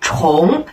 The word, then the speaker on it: 重: 第一个发音是重，我们常说的体重重量。